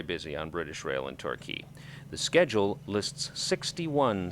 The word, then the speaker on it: Torquay: the livermead house in Torquay pronounced turkey but spelled Torquay I don't know the